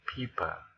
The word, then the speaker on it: pipa: So if we say pipa, we don't give aspirated pronunciation for the sound P here. Just pipa, ordinary pronunciation. without pushing the air.